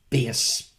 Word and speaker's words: bass: and peach your bastrate your sea bass and your base pronounced but spelt b-a-s-s as in music the wonderful victor perkins